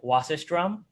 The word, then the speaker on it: Wasserstrum: We also have Wasserstrum. Am I pronouncing that correctly?